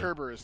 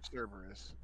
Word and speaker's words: Cerberus: I was reading that wrong because it's a K. I was pronouncing it with a hard, fucking. You know yeah, what I mean? Cerberus instead of. Gotcha. Instead of Cerberus.